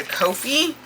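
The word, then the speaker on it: Ko-fi: am moving that to Kofi. Um, and yes, that is how you say it. I looked it up. So, I'm moving that to Kofhei because it's just it's just cheaper.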